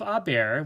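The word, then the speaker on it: haber: the first part is always a form of a bear which are very short and the H is never pronounced and then you have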